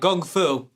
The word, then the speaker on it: kung fu: Well, what makes it sound like gung fu? And I believe I'm actually pronouncing that correctly. All of you people out there saying a hard K, I think you're doing it wrong.